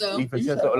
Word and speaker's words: DiVincenzo: DiVincenzo.